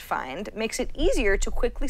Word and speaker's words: FND: He says, FND, which I guess is pronounced find, makes it easier to quickly search and navigate the App Store and the iTunes Store in general.